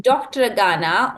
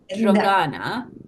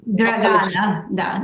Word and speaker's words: Dragana: Is it Dr. Agana or is it Dragana? Dragana, Dragana. Yes, you pronunciation my name excellent.